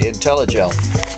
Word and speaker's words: Intellijel: Did I say that right? Intellijel? And Paul agrees. I did pronounce it correctly. Intellijel.